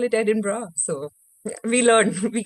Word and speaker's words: Edinburgh: oh, it's pronounced Edinburgh. I also learned it वहां जब मैं स्कॉटलैंड पहुंची मैं भी एडिनबर्ग से शुरू की थी. Okay, Then people were great, like, we call it Edinburgh.